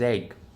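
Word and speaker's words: Egge: And I probably shouldn't be picking on your name here, but because my last name's Egg. But it's not spelled Egg. It's spelled E-double-G-E. Still pronounced the same though.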